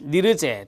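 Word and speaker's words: Nirje: 자, 1969년 스웨덴의 니르제 또는 뉴리에라고 발음하기도 합니다.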